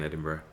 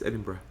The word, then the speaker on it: Edinburgh: was at university in edinburgh you know you'd get american tourists come and say ah gee edinburg is such a nice place and of course we're like it's edinburgh but you know as